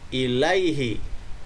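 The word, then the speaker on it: إليه: Dibacanya harus panjang di kata yang ada harokat fathah dan iya, dan setelahnya iya sukun. Jadi dibaca ilaih.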